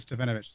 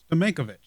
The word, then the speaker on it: Stamenkovic: I think I said Stefanovic. Stamenkovic. Stamenkovic comes in.